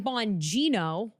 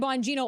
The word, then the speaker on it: Bonino: Pam Bondi, Cash Patel, Dan Bondino.